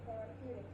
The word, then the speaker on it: therapeutics: So pay attention to the R. Mm-hmm. Therapeutics has 4 syllables. We're going to make sure that you hear it clearly.